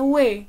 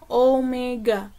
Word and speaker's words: Omega: yang di layar itu bukan dibaca wae salah kalau kalian baca wae jadi yang benar dibacanya adalah Omega dan yang terakhir adalah